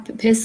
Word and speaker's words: passed: a gray car passed across the intersection, beating the red light. Passed, not passed. Passed. Passed. T Passed. sound at the end, yes.